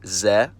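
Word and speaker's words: З: It's called ze, and it takes the sound of the English letter Z.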